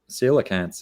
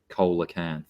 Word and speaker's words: coelacanth: Well, I actually imagine that if it's based on Latin, it probably is pronounced coelacanth or coelacanth, because I think most C's in Latin are pronounced as hard C's.